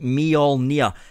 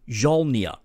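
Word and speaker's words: Mjölnir: It's pronounced Mjolnir. See, some people say Mjolnir and other people say Jolnir.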